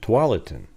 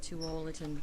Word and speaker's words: Tualatin: I challenge the troll to pronounce the following Oregon towns. I can say them: Tualatin, Tigard, Kaiser, and Multnomah.